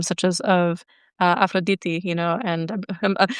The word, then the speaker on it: Aphrodite: Aphroditi you know and I'm pronouncing her properly from now on actually I just I know I know it's like weird because when you speak English it's like Aphrodite you know but like Aphroditi like when you're when